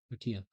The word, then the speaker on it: tortilla: The letter L twice in Spanish is pronounced Y. Oh, okay, yeah, tortilla.